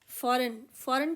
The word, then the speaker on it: foreign: फॉरेन के अगर spelling आते हैं तो आप आराम से फॉरेनर बना सकते हैं। FOREIGN ये होता है फॉरेन, इसमें जी साइलेंट है और ER लगाकर बना फॉरेनर।